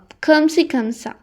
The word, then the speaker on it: comme ci comme ça: comme ci comme ça. එහෙම තමයි pronounce කරන්නේ.